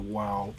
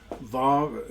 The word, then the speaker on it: Vav: So we're going with the Vav pronunciation instead of the Wow pronunciation. Vav, Zayin, Chet, Chet, so that's a hard H.